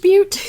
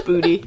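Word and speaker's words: Butte: Elephant but yes. And it's spelled b t which kind of looks like elephant butt or elephant booty but it's but no it's booty.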